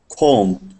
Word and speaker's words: comb: B is not pronounced when following M at the end of a word. Klein, cram, dump, comb.